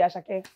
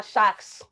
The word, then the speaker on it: Sharks: I'm enter as a daughter, I say my name no be Ashake. My name, na Sharks.